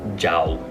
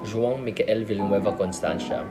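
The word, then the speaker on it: João: i just hate it when people call me zhao or you know they make up they make up a different pronunciation like or though you know like i know my name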